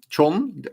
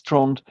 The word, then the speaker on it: Trond: Tron? Is the said? It's the correct way to say it in English. It's Trond. If my mother calls my name, she would say Tron. Tron, like that.